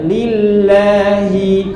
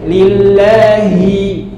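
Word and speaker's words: لِلَّهِ: saja baca Quran ya lillahi coba lillah tipis la la Jangan lo jangan la la kemudian lillahi lillahi ahinya jelas hi hi nah ini Hi ini banyak yang bacanya tidak jelas ya dan hanya orang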